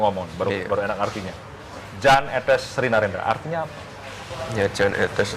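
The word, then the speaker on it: Jan Ethes Srinarendra: Yan, Jan, atau apa? Etes, Etes, Sri Narendra. Yang betul bagaimana? Jan Etes Sri Narendra.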